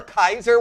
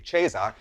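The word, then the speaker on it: Caesar: When are you like some Roman Emperor Kaiser, which is the original Latin pronunciation by the way, not the ecclesiastal, which would be Chesar, but nevertheless, do you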